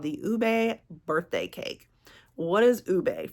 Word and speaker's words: ube: referencing is the purple potatoes um and you pronounce it Ube instead of like Uub so I did have to look that up